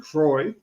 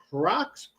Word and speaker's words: Croix: I was like how do you say this is Crocs C you know I could not pronounce it. So it's the same it's the port of St. Croy T was a high of 83.